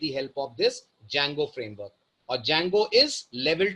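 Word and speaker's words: Django: होता है ठीक है इसमें डी साइलेंट रहता है मैंने बहुत से लोगों को देखा है डी जंगो पढ़ते हैं इसको इट्स not pronounced as डी जैंगो it's pronounced as जैंगो जिसमें डी अल्फाबेट साइलेंट है और इसी के अंदर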